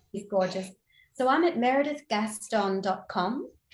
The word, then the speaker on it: Meredith: my name um I love that you say meredi it's it's it's proper pronunciation in in Welsh which I thought no